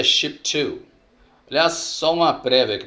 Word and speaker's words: Shipito: vídeos e tudo mais, eles costumam pronunciar Chipito. Mas é pela, vamos dizer assim, é portuguesando a coisa, né? Mas na realidade é Ship2.